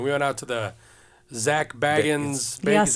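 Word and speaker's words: Zak Bagans: this time and we went out to the Zack baggin is how you say Zack baggin like his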